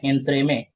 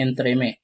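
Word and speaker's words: entremetier: एंथ्रे में ठीक है? तो स्पेलिंग आ गया ई एन टी आर ई एम ई टी आई ई आर एंथ्रे में।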